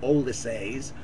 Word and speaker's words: Ulysses: Shortly after Ulysses, Joyce pronounced it Olysses, was published, she remarked